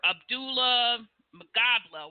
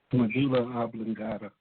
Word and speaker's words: medulla oblongata: pronounce it right, your Abdullah Magabla, whatever. I never pronounce it right. Medulla oblongata.